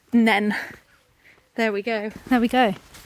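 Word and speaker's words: Nene: beating their peterb Rivals winning the rights for the river to be pronounced nen there we go there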